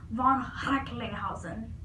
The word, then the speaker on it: von Recklinghausen: His name is actually pronounced with like this kind of like throat sound. I think I can do it. It's like von Recklinghausen.